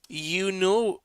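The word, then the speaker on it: eunoia: And then the next um word is called youoya. Youa. And it's spelled e u n o i a.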